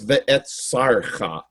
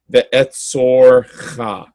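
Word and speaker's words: וְאֶצָּרְךָ: 6, the word ve'etzorcha, it looks like ve'etzarcha, but that vowel, called a chants, sometimes changes to o or aw. And in this case, it should be pronounced ve'etzorcha.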